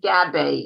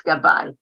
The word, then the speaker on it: Gabai: They pronounce it Gabe in English, but it's Gabai.